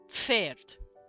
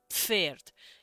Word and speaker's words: Pferd: It's Pferd. Pferd. You put F and P together. Pf. So it's P-F-E-R-D, I believe.